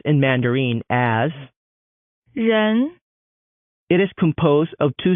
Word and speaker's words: 人: This character is pronounced in Mandarin as 人 It is composed of two strokes.